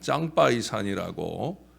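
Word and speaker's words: 长白山: 중국 쪽에서, 중국은 이 백두산을 장백산, 그들 발음으로 하면 짱바이산이라고, 그 장백산으로 가는 길도 있는데, 저는 오래전 부교육자 생활을 할 때 그 길로 가보았어요.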